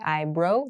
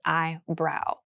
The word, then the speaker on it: eyebrow: is above your eye be careful with pronunciation here this is eyebrow sometimes I hear Learners say eybrow this is incorrect it's eyebrow here's an example women